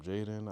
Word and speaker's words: Jaden: So that's why his name is spelled J A D E N. It's with no Y or I or anything to actually make it Jaden.